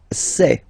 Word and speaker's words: sais: Je sais. Okay, final S not pronounced, and then you get this A-I, E. Okay, je sais, sais.